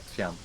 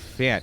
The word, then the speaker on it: Fjant: You just have to have an extremely Swedish accent when you say it. No, but Spam this plant to help out Fjant.